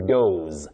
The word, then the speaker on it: doze: especially during the day you say to doze doze with a sound what we call the voiced sound Z.